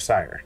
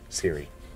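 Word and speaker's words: Cyre: But that's where you're at, is the remnants of Sire, Siri. I've heard it pronounced both.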